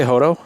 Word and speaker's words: Hoto: I would say Hoto. Like the T would be kind of soft, basically. Is how you would say it.